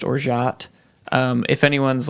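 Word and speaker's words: orgeat: i looked it up i understand that it's pronounced or shot um if anyone's like actually mad i'm not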